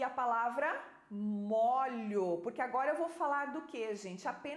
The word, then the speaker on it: molho: verbo molhar né Então essa diferença também na pronúncia da palavra molho é um som fechado no o molho é um som